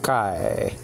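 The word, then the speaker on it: καί: Nowadays pronounced K in modern Greek, but this is Kai. This is biblical Greek, Kai.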